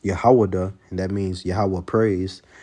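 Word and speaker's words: יהודה: And you say that in the Hebrew, it's pronounced Yahwadah, and that means Yahweh praise.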